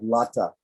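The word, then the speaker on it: लता: be bija but anyway so here we have lata so it's it ends in a long a right and so normally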